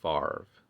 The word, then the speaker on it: Favre: how it's supposed to be right there it's pronounced farv but it's Favre unbelievable body Harvest I played